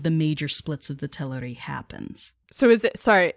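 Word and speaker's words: Teleri: major splits of the tillery happens so is it sorry i noticed that you're saying tellery is that the pronunciation cool i've been saying hillary the whole time yeah so um there's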